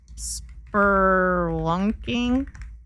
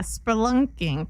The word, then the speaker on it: spelunking: Spelunking or how do you say spo I don't know how to say I think it's spelunking, right? Spurlunking. Yeah, spelunking. There we go. There's no R.